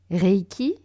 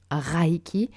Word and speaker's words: Reiki: Le SH dans le Shinshin, qui n'est pas Shinsin, Usui et non Uzui, Reiki et non Raiki, et enfin Ryoho et non Ryo-o.